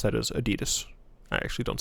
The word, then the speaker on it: adidas: it's fun um i i the way i pronounce that is adidas i actually don't say adidas just putting that out there uh this head's